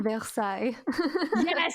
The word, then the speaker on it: Versailles: of versallia facelier it's French so excuse my pronunciation Versailles there we go okay Maddie knows what I'm